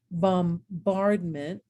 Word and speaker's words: bombardment: But look what happens when we get signature, bombardment, and hymnal. Okay, and now all of a sudden I hear that silent letter.